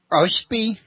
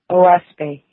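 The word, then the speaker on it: Oahspe: book several times, that would be how I'd pronounce it offhand. Say it again. Oshpi. Oaspe.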